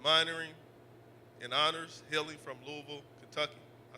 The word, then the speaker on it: Louisville: and minoring in honors healing from Louisville, Kentucky. I said it right. It's Louisville. People that don't not not from there, they say Louis Lewisfield. They mess it all up with all kinds of things.